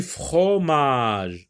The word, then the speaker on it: fromage: Du fromage. On voit OM, mais ça ne se prononce pas on. Donc, je n'entends pas le son on dans le mot fromage.